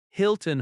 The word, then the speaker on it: Hilton: For example, Hilton Hotel. The stress is on Hil- -ton.